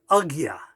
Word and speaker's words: Ajna: personal experience and realization agya one more time agya that's the way it's pronounced in sanskrit you'll find all sorts